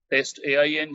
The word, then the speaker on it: TestAIng: us to call your platform i might be pronouncing it not uh that correctly is it uh test ai ng is the company name and uh ai ensured